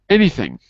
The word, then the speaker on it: anything: So it's 2 syllables, isn't it? Any. No, 3. Anything. 3 syllables. Looks like the last one. That would be anything. Ah. It's not anything, it's anything. So it's the first one.